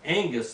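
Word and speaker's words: ἐγγύς: or w-y-s e-g-g-y-s but when you've got two gammas in a row two g's in greek the first g becomes an n let me give you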